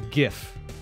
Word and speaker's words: GIF: bump bump bump BAM how do I pronounce gift with a hard G the way the Lord our Savior intended it's a gift not a jiff it's a gift might